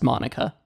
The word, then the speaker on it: MONACA: it from Studio Monica which I'm devastated to learn I've been pronouncing wrong I was over complicating it it's just Monica the 2021 remake of